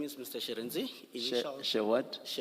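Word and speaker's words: Shirintzi: Sharenzi.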